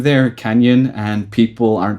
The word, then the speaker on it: Kanyun: Happy people get to learn how to say the name Kanyun. I hear a lot of people say it in weird ways, but yes, that is how you say it.